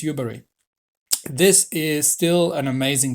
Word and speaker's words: Yubari: The Yubari. I keep forgetting how they're pronounced. I think it's Yubari.